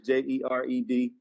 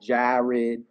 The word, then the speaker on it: Jered: No, Jered, Jered, JERED. That is not. It's not Jared. It is Jered. And, you know, Jered, not JARED. It's JERED. Yes, my mom decided to spell it that way.